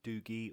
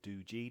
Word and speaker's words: DOOGEE: This is from DOOGEE or DOOGEE, depending on how you want to pronounce it.